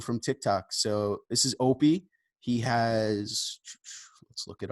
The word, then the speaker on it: Oppiy: It's Opie. You're good. All right. So today this is going to be a new segment called the Tik Tok Files, where interviewing people from TikTok. So this is Opie.